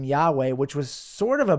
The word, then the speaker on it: Yahweh: was the name that was revealed in scripture Yahweh even though that pronunciation is completely off off that is not